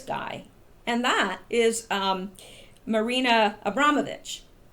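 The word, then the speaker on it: Abramović: And that is Marina Abramovich. I used to pronounce her name wrong. Thank you to the person that corrected me. It's Abramovich. Anyway, isn't this interesting?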